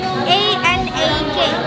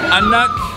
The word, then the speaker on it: anak: How do you spell it? A-N-A-K.